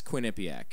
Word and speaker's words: Quinnipiac: wait I'm more into the college quinc yes Quinnipiac yeah and if if if you guys don't